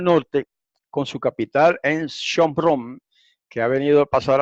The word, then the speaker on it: Shomron: Gracias al griego otra vez, porque en el griego no se llama Samaria, perdón, en el hebreo no se llama Samaria, sino Shomron, que por el nombre del fundador, ¿verdad?